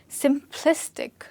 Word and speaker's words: simplistic: And the third one here, simplistic. Where do you think this one is stressed? Simplistic. There's no K and it's not stressed at sim. It's stressed at simplistic.